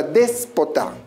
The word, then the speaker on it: déspota: de voz por ejemplo la palabra déspota tenemos una dos y tres sílabas donde se encuentra la mayor fuerza de voz recuerda la última penúltima y antepenúltima sílaba al encontrarse la mayor fuerza de voz en la antepenúltima sílabas te constituye en una palabra esdrújula de la misma